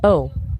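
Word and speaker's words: eau: It's O pronounced like the letter O.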